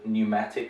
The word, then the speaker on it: pneumatic: Here there's another strange one, pneumonia, so the P is silent, like in a similar word, pneumatic, for example, also has a P in there.